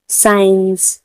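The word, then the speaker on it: science: साइंस, साइंस ने भी ऐसे ही करेंगे।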